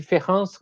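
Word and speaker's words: différance: Só que o e e o A nesse ANSE se pronunciam da mesma forma. Então, quando você fala de Ferrance com E e de Ferrance com A, não faz nenhuma, você não consegue perceber a diferença entre os dois termos, né?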